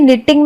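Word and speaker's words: knitting: वैसे ही निटिंग में के साइलेंट है और दूसरा टी भी साइलेंट है।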